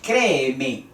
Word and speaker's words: créeme: entonces aquí en la donde se alza la voz créeme créeme y es una palabra esdrújula cree en mí porque